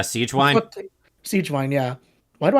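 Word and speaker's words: Sigewinne: but like why is is this sea wine or how is it pronounced uh Siege wine Siege wine yeah why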